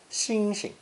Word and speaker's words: 星星: In Beijing dialect, the second syllable is unstressed, xing xing.